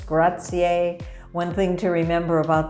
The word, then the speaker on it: grazie: and thank you is grazier it's not gracias gracias is spanish it's grazier one thing to remember about the italian language is that italians never miss a vowel vowels are all always pronounced they rarely rarely just